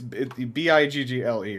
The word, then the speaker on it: Bigle: It's B I G L E, right?